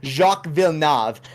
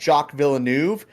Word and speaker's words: Jacques Villeneuve: It's actually happened once with Jacques Villeneuve. Apparently, that's how you pronounce it. And we said Jacques Villeneuve, and they were livid.